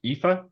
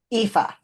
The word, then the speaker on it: Aoife: Fury's first name is pronounced Aoife. Aoife.